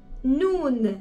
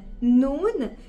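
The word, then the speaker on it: نون: à la lettre har lettre noun noun ça correspond à la lettre N en français et ça prononce vraiment pareil que N alors pour la prononciation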